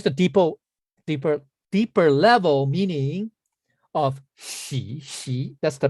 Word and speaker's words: 徙: Now, here's the deeper level meaning of xi. That's the pronunciation.